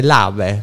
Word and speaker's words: Lave: Ciao, ho detto bene, Lave, non è che l'ho detto Lave, sì. Sì. Si legge Esatto, come è scritto, esattamente.